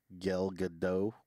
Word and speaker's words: Gal Gadot: You know, so as everything progresses, you know, got Gal Gadot.